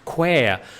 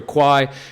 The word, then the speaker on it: Kwai: The River Kwai is more accurately pronounced to rhyme with the word square and where, as in Quair.